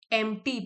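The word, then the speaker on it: empty: एंप्टी P silent है।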